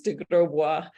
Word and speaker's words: de Grosbois: I could pronounce it it's pronounced the French way it's DeGraw I know I love